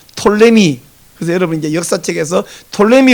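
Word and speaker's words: Ptolemy: 그 이게 이름이 너무 기니까 발음하다가 포톨레오스를 줄여 갖고 포톨레미 이렇게도 발음을 하는데 이게 영미권으로 넘어가면서 앞에 푸가 날아가 버렸어요. 톨레미.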